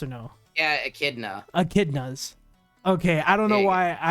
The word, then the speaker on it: echidna: Almost pronounced basically with a K because of the CH.